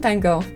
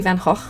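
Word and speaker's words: Van Gogh: Vincent Van Go. I think it's actually Van Hal.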